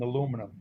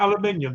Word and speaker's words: aluminium: more plastic on that than aluminum yeah right exactly yeah one of my buddies makes the liner material for those cans ppg are we talking about aluminium then guys sorry yeah yeah you're pronouncing that wrong but whatever yeah yeah